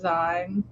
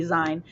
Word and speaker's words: zine: To be fair, the pronunciation for it, like the way it's spelled, it looks like it would be Zine. But because it is from the word magazine, that is why it is zine.